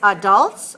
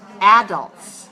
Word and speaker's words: adults: so adults over 60 years of age or we can also pronounce adults two pronunciations we can say adults or we can say adults both are correct adults over 60 years